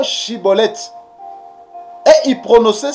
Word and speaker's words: Schibboleth: euh des des Éphraïmites ils avaient des difficultés pour prononcer euh le mot chibolette et il prononçait siibolette car il n pouvait